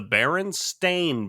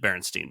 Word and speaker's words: Berenstain: wrong about I'm almost 100 positive it's the baron stain bears but we've always pronounced it Berenstein Bears because we're kids and